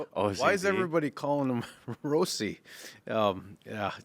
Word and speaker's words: Rossi: just this whole uh Marco Rossi pronouncing his name Rosie just having that change late in the season that was just another